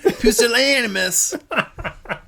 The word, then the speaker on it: pusillanimous: heard that word before the correct pronunciation so I don't butcher it is that's British isn't American anonymous it's like it's like a New Yorker like I'm walking here pusillanimous you want a coffee